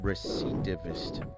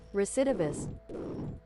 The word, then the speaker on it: recidivist: And how do you pronounce that? Rectivist. Recipe. Give it to me. Recetivist. Pronounce. Pronunciation. Uh-huh. Give it to me. Recidivist.